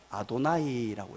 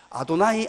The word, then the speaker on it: 아도나이: 아도나이라고 읽었어요. 그래서 오늘 이 본문을 다시 보면요, 읽을 때 이렇게 읽어야 돼요. 아도나이, 아도나이 두 번 읽어야 돼요.